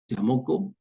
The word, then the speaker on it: Mauco: François Dolto tinha um amigo naquela época que se chamava Georges Monco, ou Mauco, se escreve Mauco, né? Em francês se pronuncia Monco.